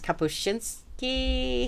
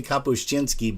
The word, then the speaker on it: Kapuscinski: We've been pronouncing it very, we say Kapuscinski, but it's actually Kapuscinski, C-I-N. There is no ch in there, I don't believe.